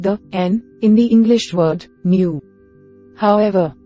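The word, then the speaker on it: νῦ: N, new sounds like the n in the English word new. However, the name of the letter is pronounced ni, not new, or nu, as you may hear it pronounced in English.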